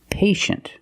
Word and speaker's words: patient: We see T-I-E or T-I-A. It makes the sound sh, sh, like shoe and shirt. The soft sound sh, sh. Examples, patient and initial.